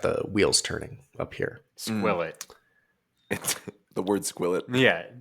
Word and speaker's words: Skwovet: the word squet yeah you keep saying sov it squo it like it's a long o I was but I was glancing at the The Source material and it is the combination of squirrel and covet so you think it's